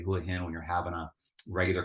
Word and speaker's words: Hua Hin: see these letters h-u-a-h-i-n you're naturally going to say Hui hin now this is also a very lazy way to say Houlihan when you're having a